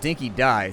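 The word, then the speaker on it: Dinki-Di: Apparently, it's pronounced Dinky Die.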